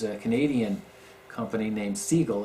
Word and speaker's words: Sigil: talk about is a can Adan company named seagull it's spelled s g i l and his website